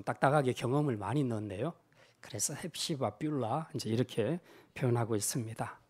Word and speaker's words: 헵시바: 사실 이제 이 히브리어 원어 발음으로 하게 되면 헵시바가 아니고 헤프치바라고 하고 뷸라가 아니라 베올라라고 이렇게 발음합니다.